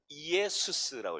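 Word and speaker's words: Ἰησοῦς: 첫 번째 이 I는 헬라어로 이오타라고 읽는데 이걸 이에수스라고 읽어요.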